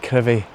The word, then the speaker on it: Crovie: Again, it will be Crovie on the map, but it's pronounced Crovie.